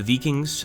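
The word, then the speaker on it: Wiking: We'll send in the Vikings and or the Vikings. Actually, I think the W in German is pronounced as a V, so it would be the Viking division.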